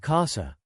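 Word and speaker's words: casa: last syllable for example in the word Kasa house the stress is on the first syllable because the word is only two syllables long the first syllable is the second to last otherwise words ending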